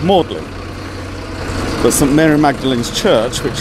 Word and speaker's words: Magdalen: assistant Mary Magdalene is known by the old english pronunciation of morgan wasn't Mary Magdalene's Church